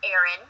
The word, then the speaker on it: Aryn: Now, because I ran a daycare, I always put my daughter's name on her bottle, and her name is pronounced Erin, but it's spelled Aryn.